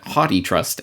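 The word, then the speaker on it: HathiTrust: And I note that the Haiti Trust, as I see it is pronounced on their page, according to their records, is remarkable, as Aaron points out later in that video.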